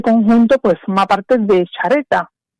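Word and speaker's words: Xareta: Y hoy nos vamos a ir, Juan Carlos, a Chareta. Chareta. ¿Vale? Que es Chareta, bueno, se escribe con X.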